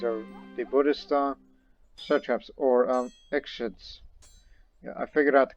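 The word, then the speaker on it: Ikhshid: These are the Buddhist satraps, or Ekshids. Yeah, I figured out the correct pronunciation in the Sogdian language. It's Ekshid. The spelling of I-K-H, you pronounce it like a letter S. No, excuse me, X.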